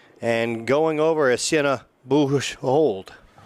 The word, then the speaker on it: Boujold: And going over is Sienna Boujold. It's a French name, Boujold, and that's how we're going to pronounce it. And the dad is right there, and he says, Joe, you finally nailed it.